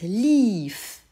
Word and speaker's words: lief: Prétérit, lief. Et tu entends, et tu dois t'appliquer à répéter un I long, c'est-à-dire que tu vas l'écrire IE. Ist gelaufen.